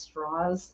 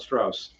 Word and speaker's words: Strauss: guy's name was pronounced straws yep not Strauss straws because he's in the half would they do that kind of thing and I'm like yeah nobody no nobody pronounces it like that but he was straws